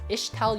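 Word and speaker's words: Ixtal: because Kiana is an ishtal unit extol first day my bad um it comes from a Spanish word but the Spanish word um it's ixt and it's pronounced isht so I don't know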